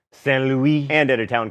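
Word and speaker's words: Saint-Louis: Oh, Stan, don't make me say it right. Fine. Saint Louis, and at a town called Gorée, both in Senegal.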